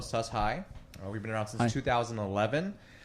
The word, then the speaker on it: Sus-Hi: It's pronounced Sustainable Hello, Sus High.